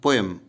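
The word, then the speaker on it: poem: पी ओ ई एम जो लिखते हैं ना, पी ओ ई एम, दरअसल इसको बोलते हैं पोएम, ई हटा दीजिए, पोएम, पोएम, पोएम, इस तरह से इसका उच्चारण होता है।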